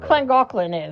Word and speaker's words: Llangollen: Wherever Llangollen is that how you say it?